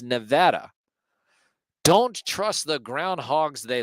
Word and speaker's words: Nevada: is hold on there Nevada rhymes with bada Nevada see that see there